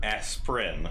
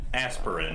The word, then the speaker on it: Asprin: MERS and imperfections by Robert asprin not aspirin as I want to pronounce it and this is the